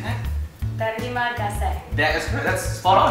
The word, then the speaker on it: terima kasih: Terima kasih. That is good. That's spot on.